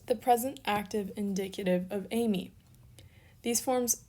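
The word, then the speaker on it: εἰμί: moo yoda and then you have a smooth breathing mark because it's not hay me it's amy and an acute on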